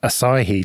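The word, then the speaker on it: Asahi: on bare metal with acai linux i think that's how you say it like the beer ah god yeah that's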